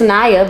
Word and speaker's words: Nyah: My name not even. But it's Naya, but.